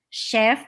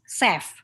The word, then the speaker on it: chef: in indonesia sometimes we we pronounce the word chef is seth so i told her